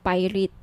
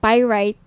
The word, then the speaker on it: pyrite: ng bracelet ito yung pirate pyrite sorry pyrite yung iba pronunciation pirate pyrite Okay 1,980 each